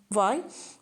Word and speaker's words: university: So even though U it is a vowel, but when we are pronouncing university, it has a sound of U, it has a consonant sounding.